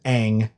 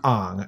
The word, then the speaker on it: Aang: we're laughing because if you're not a fan of the Avatar series, his name is Aang, not Ong.